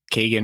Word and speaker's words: Keegan: And you see on the two deep, we have Keegan Williams, and then Lane Sumner. Kagan. We were saying that wrong. Yeah, there it is. Kagan. Yeah. We were saying it wrong on our last episode.